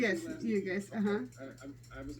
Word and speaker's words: Ugas: Yes, Ugas.